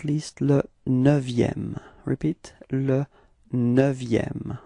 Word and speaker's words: neuvième: And then, last but not least, le neuvième. Repeat, le neuvième. Okay, be careful because this EU in neuvième is actually open. It's not E, but it's Okay, so it's neuvième.